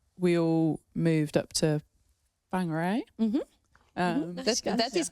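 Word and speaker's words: Whangārei: definitely um obviously we all moved up to whangarei um that is correct Amy cocaine was literally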